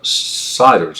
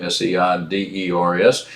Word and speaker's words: Seiders: So that was built for fishing and hunting enthusiasts, and that was built by Roy and Ron Siders. I think this is how you pronounce their name, Seiders.